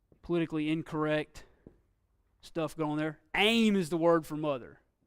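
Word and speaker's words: אֵם: of any political miss this one aim like ready aim fire and then off for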